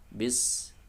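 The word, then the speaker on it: بسم: Kemudian sempurnakan pengucapan huruf ba kasroh, bis, jangan sampai kasrohnya miring ke, ya, fathah, misalnya bis, bukan bes tapi bis, ya, ucapkan dengan menurunkan gerahang bawah atau meringis, bismi, ya.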